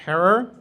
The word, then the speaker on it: Herer: really uplifting and jack herrer rhymes with terror he got really high